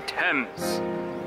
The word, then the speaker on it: Thames: The Thames. It's spelled differently than it sounds.